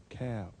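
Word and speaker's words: Kaf: dot in the middle is cap K sound as in kite and kit kite and kit you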